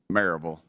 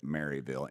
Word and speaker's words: Maryville: Maryville. It's pronounced Maryville if you're from there, but you would pronounce it Maryville, Maryville.